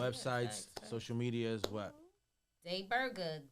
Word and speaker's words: Dai Burger: Day Burger, D-A-I Day Burger, Burger. spelled like a regular burger.